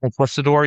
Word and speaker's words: conquistador: Conquistador.